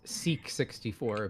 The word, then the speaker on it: SAC64: I generally pronounce it as Seek 64 because the way you're pronouncing it sounds like something else.